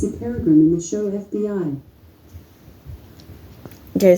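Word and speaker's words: Peregrym: so Maggie Bell is played by it's a Peregrine in the show FBI okay so I don't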